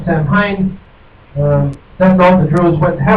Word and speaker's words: Samhain: direct line from pre-Christian the vigil of Samhain, pronounced Samhain.